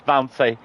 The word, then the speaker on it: Fancy: Honestly, it's Fancy, by the way. It's pronounced Fancy.